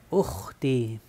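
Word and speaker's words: أختي: Ukhti, ukhti, y extiendes la i.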